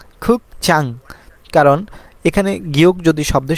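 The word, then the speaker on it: 극장: হবে উন্যাং মানে হচ্ছে ব্যাংক তারপরে খুব চাং খুক চাং কারণ এখানে গিয়ক যদি শব্দের শুরুতে বসে তাহলে গিয়কের উচ্চারণ হবে খ তাহলে খু আর গিয়ক নিচে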